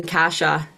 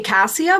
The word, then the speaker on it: Kassia: you um you Ed the original pronunciation of my name casha so that's that's uh that's the root of where my name comes from and uh I say cassia but I love casha too and I just I